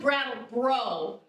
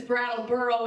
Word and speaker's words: Brattleboro: What's up, Brattleboro? I never know how to say this town name. How do you say it? Brattleboro. Brattleboro. I thought it was Brattle Bro, but I'm realizing it's Brattleboro.